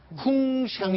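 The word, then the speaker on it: 鸿祥: 저쪽에서 그 우리말로 하게 되면은 기러기 홍자 홍상 그룹인데 중국 발음은 어떻게 되나요? 홍샹이 됩니다.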